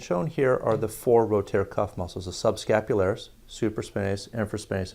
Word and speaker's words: rotator cuff: arrow you'll decide like to speak to you about rotator cuff injuries today rotator cuff sometimes is mispronounced by our patients rotary cup etc it's sort of funny